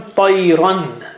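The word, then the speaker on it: طيرا: Now the word has become Tayran because it was Tayra and you join Noon Sakin there, Tayran, but this Noon Sakin is sitting on the top of the Fatha there.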